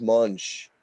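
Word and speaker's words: Moench: It's not Doug Monk. It's pronounced Munch.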